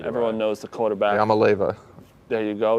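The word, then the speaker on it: Iamaleava: I don't know how to pronounce his last name. Everyone knows the quarterback. Yamaleva.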